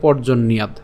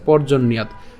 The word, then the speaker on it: পর্জন্যাৎ: সুবিধার জন্য ভাঙছি, কিন্তু উচ্চারণ একসাথে আমরা করবো, তার মানে উচ্চারণটা হবে পর্জন্যাৎ। ঠিক আছে, পর্জন্যাৎ অন্ন সম্ভব।